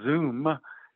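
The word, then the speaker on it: Zum: So for example, AutoGrid has a plan with a company called Zoom, not like Zoom as in what we're using right now, but Z-U-M is how it's spelled, to basically manage the charging of electric buses in the Oakland area.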